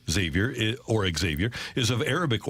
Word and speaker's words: Xavier: v i e r is pronounced as though it starts with a z like zavier while traditionally the name